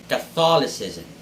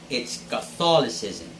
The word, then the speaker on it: Catholicism: differentiate our eighth word catholicism catholicism and it's not catholicism it's catholicism the stress should be on the second syllable so if you're going